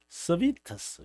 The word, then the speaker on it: 세르베투스: 거기서 저는 세르베투스 뭐 라틴어로 발음을 하니까 저희 교수님들이 서비터스 이게 영어식 발음을 그들이 다 하니까 이제 여기서 한국에서는 이제 라틴어 발음을 다 배웠거든요.